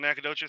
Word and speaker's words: Nacogdoches: lived in nacogdoches and i know how to say it because i lived there even though it's spelled nak hog duchess yep and worked in